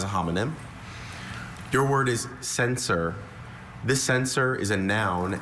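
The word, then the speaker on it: censer: Sensor is a vessel for burning incense.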